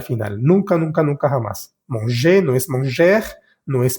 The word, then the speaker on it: manger: Olvídate de esa R al final y simplemente esa E la pronuncias E. ER al final de los verbos se dice E.